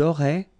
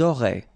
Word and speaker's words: auraient: And then look, if you've got A-I-E-N-T, then phonetically it goes like aurait. Okay, so phonetically you've got aurait here, aurait, aurait, and here as well, aurait. Okay, so it's quite easy to produce orally.